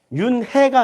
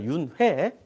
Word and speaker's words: 윤회: 윤혜 안양 유은혜 레 윤 해가 아니라 윤회 발음 잘해서 에서 윤회 끊임없이 반복되고